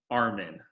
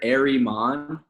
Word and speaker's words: Areman: just so everyone knows you pronounce Jake's last name Armen like right just how it looks right but Jason wants